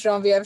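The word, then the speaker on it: Geneviève: club as she said genevieve is that how you say it in french genevieve uh my name in french is showing vf oh that's that's even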